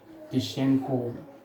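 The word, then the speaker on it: Tishchenko: ठीक है, तो ये टिशंको रिएक्शन के थ्रू TiSCH, बेटा स्पेलिंग होती है टिशंको की TiSCH, टिशंको।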